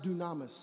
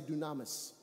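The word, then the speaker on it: δύναμις: word dunamis it's pronounced it's spelled dynamis is pronounced dunamis everybody say dunamis dunamis is power it's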